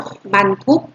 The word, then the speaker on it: บรรทุก: ต่อ ไป กู รถ มัน ทุก อ่าน ว่า รถ บรรทุก รถ บรรทุก งาน ว่า รถ บรรทุก มี ก็